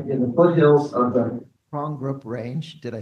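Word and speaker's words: Porongurup: a contemplative life in the foothills of the Prongbrook Range. Did I say it right? That's it. Okay. An ancient mountain range in the great southern region of Western Australia. From her home in Prongbrook, Michelle works as a lecturer in theology for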